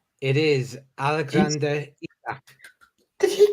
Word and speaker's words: Isak: Isaac? It is Alexander Isak.